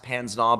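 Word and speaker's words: pince-nez: the glasses that he's wearing are are called Pan's gnaw it's spelled pins but it's pronounced panznav but they're these little lenses that clip onto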